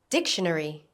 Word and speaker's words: dictionary: book dictionary dictionary Notice the stress on the first syllable.